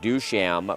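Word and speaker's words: Duchamp: at 1 & 1 Jermaine pronounces the last name do sham but he spells it D uch a.m.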